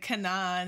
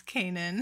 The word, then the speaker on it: Canaan: We obviously mispronounced. I was like Canaan and it's Canaan.